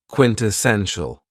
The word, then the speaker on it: quintessential: adjective is quintessential and this word has four syllables and the stress is on the third syllable quintessential when we say that